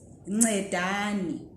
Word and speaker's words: ncedani: Okay, so batsirai means ncedani. Are you managing to say nce? Nca, nce, nci, nco, ncu. Okay, like ncube. Uncedo.